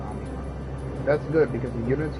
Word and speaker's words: Omicron: I thought it said Omnicron. It's pronounced Omnicron. It's pronounced Omicron.